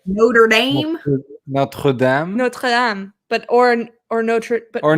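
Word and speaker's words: Notre-Dame: are about to say it right notre dame notre dame but or no or not notre dame notre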